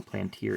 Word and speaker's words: Plantier: Phil Plantier, or Phil Plantier, I guess, is heard it pronounced both ways, but I guess Phil Plantier is the correct pronunciation.